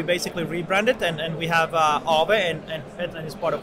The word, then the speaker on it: Aave: Is that the correct pronunciation? Aave, yeah.